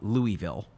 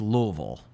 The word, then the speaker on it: Louisville: Because just so y'all know, it's not Louisville, Louisville. It's definitely not Louisville. It's Louisville, right?